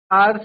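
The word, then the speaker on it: hour: बट एच हमारा mute है। Mute है मींस साइलेंट है एच।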